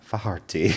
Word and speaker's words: Faherty: How do you pronounce it? Faherty? No, there's a brand, and it's a high-end brand. Faherty.